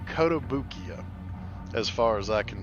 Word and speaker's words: Kotobukiya: from a company called kotobukiya as far as I can tell ko TOB UK iya so I'm pronounce I'm pronouncing in what I understand to be the right pronunciation kotobukiya but these are bishoujo